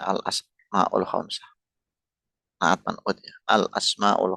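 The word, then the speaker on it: الأسماء الخمسة: Berikutnya al-asmaul khamsah, yang benar pengucapannya al-asmaul khamsah.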